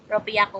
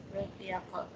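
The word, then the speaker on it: ろっぴゃく: Ropya ko po ba, ma'am? Tama. Okay, that's it. Sige po. Ropya ko.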